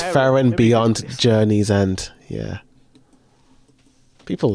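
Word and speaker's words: Frieren: Aaron Fen oh right right right right yeah fron fron that's it yeah fron or it could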